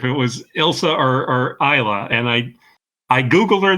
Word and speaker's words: Isla: was Elsa or or Isa and I I Googled her this morning and it it is ISA Fisher I okay so the S is silent oh boy all right